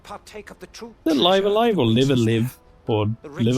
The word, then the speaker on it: Live A Live: to considering I was laughed after calling it live a live it's probably the other one good luck with